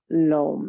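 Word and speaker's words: lam: do is called it's spelled l-a-m but the o sounds sort of like rope so it's and if you can feel that energy of lo lom it feels deep it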